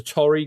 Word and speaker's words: Torii: There's a Torii gate. I think that's how you pronounce them, Tori.